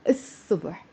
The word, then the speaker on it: الصبح: الصبح. مش بالصبح. Okay? And instead of saying الصبح, don't pronounce the L. Pronounce الصبح. أكلت الصبح. Why? Because صاد حرف شمسي. صاد is a sun letter.